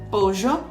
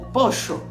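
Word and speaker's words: pollo: usando o exemplo de poho tu poderás escutar poo poo pojo ou poxo dependendo da região ou do país onde tu estiveres eu vou utilizar de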